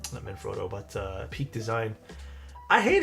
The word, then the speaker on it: Manfrotto: No, not Frodo. Froto, I should say. Manfrotto. I need to pronunciate it more.